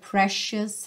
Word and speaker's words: precious: I love your precious heart. Olha que interessante essa palavra precious, essa letra C vai ser pronunciada como um X.